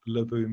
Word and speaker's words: Leboo: of invitation and yet my company is called laboum media it's not French what happened is I've